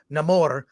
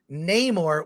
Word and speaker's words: Namor: work for me um he's the only one who calls himself Namor and everyone else says Neymar which is the pronunciation we've used for years I I will say